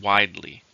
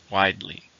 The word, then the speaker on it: widely: wide it's an adverb how many syllables in widely to stress on the first widely the news is widely